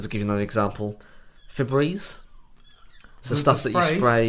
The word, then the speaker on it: Febreze: delightful multi-paste there's nothing wrong with that um Febreze um isn't Feb and then breezing that the